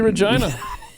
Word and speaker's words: Regina: Regina, though. Should be Regina. I mean, Because they rhyme with... Right. Magina.